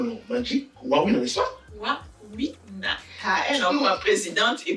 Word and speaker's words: Wawina: C'est comment on prononce le nom? Magic Warina, n'est-ce pas? Warina.